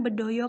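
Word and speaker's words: Bedhaya: ada Tari Bedoyo Ketawang tulisannya memang berdaya tapi bacanya itu Tari Bedoyo Ketawang ini dari Surakarta Surakarta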